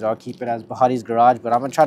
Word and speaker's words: Bhatti's: So the new channel is gonna be called Bhatti's Garage, or Bhatti's Garage if you're Punjabi and you could, pronounce the name, I guess.